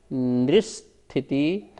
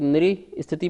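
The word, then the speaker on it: नृस्थिति: फिर देखिए निस्थिति, अपन ऐसे पढ़ सकते, नृ स्थिति पढ़ेंगे, पर अच्छा उच्चारण करना है, शुद्ध उच्चारण करना है तो निस्थिति परावरे त्रिपल्योपमांतर मुहूर्ते।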